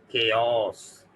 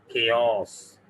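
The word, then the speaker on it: chaos: इसको पढ़ते हैं जनाबे वाला केओस। केओस क्या पढ़ते हैं? केओस, केओस, ठीक है। तो इसको पढ़ते हैं केओस।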